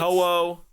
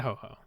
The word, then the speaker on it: Ho-Oh: anything that Talking will get Ho-Oh? No, not ho-ho. That's not true. Oh, Uh, that's okay. We'll get to pronunciation when we Wait, get to guys, ho-oh.